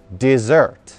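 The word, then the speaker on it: dessert: на экран и так с двумя буковками с это десерт это та сладко и вкусно и что вы кушаете после основного блюда desert resort ударением на второй слог в конце слова без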